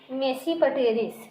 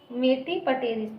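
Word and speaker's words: Tmesipteris: और एक है आपका मेसीपटेरिस। यहाँ पर टी साइलेंट है। मेटीपटेरिस।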